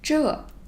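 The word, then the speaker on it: 这: this this so this it is pronounced as true this true then let's for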